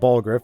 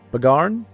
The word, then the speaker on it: Bagarn: going for the guard but it's not it's not ball Griff it's yagram okay to remember now what is it yoga it's either Bagon or Bagon bagarn jagran bagarn he should say